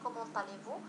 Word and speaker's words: comment allez-vous: إذن الحالات الأخرى لا نقوم فيها بلا ليزون، لكن كومون طاليفو نقوم فيها بلا ليزون وواجبة.